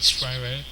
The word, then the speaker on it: Spyro: Yes, I said it right, Spyro.